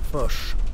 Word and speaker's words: Foch: Doit-on le prononcer Foch ou Foch? Foch.